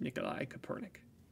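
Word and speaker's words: Mikołaj Kopernik: room County um so we use the Polish pronunciation of of Nicholas Copernicus which is Nikolai copernic I know you yeah I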